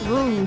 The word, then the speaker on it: roux: So, because I've watched cooking shows since I was like a young teenager, I know how to pronounce roux, so I saw his name with an LS and I was like, roux, rules card?